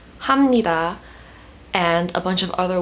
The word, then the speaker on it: 감사합니다: be another pronunciation video explaining why kamsahamnida is pronounced as hamnida and a bunch of